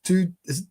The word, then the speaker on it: Thy: We've got Danish from the two distillery. Although it's spelled T-Y-E. It's spelled Thy, but it's pronounced two.